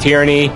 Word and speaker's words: Tyranee: Yes, it is pronounced tyranny, not tyrane or whatever you think it is. It's like tyranny, you know, with a Y at the end, except instead of a Y, it's a cool EE.